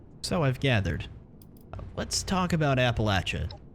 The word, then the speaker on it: Appalachia: Tell her it's pronounced Appalachia, not Appalachia. Let's just go ahead and do that.